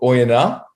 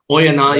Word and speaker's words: Oyonnax: First things first, the team's called Oyonnax. Oyonnax, yeah, right. You don't pronounce I the X.